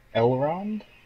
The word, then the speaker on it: Elrond: Elrond? I think that's how you say it. I mean, that's what it looks like. It's one of the few Lord of the Rings names I can pronounce.